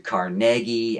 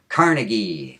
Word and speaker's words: Carnegie: you pronounce your name, he would have said Andrew Carnegie and my nickname is. And still because of media spreading wrong stuff uh wrong information a lot of people have uh learned to mispronounce it as Carnegie Carnegie Hall but that's not